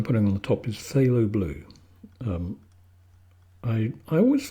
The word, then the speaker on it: phthalo: h a l o who invented a word that has two forms with a F and a th at the beginning I don't know but